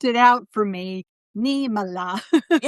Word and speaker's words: Niemela: Neila. Yes, I know because people like how do you say it? Most people say Namela.